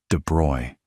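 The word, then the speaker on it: de Broglie: In 1924, a French graduate student named Lie De Brogley, and his name is pronounced roughly De Bruy, which trips up almost everyone the first time, proposed in his doctoral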